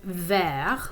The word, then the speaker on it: vert: with language okay so the word for green in french is actually ver with just a silent t at the end but since we're describing